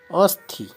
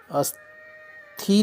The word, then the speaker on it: अस्थि: है विभूति अस्ति अस्थि अथी नहीं अस्थि छोटी की मात्रा होती है इसलिए जल्दी से उच्चारण